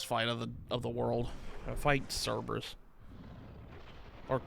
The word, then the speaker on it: Cerberus: Fight Cerberus. Or Kerberos, or whatever you want to call him. I think it's... I've always heard it pronounced Cerberus.